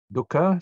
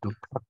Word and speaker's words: dukkha: Khandha here means a collection, a mass, and of course there's an insert K there to make it easier to pronounce. Dukkha. You stop for a while. Dukkha, and the k sound is called a glottal stop.